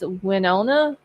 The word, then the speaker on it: Winona: big guy okay so I was not it's Winona am I saying that correctly now Big Al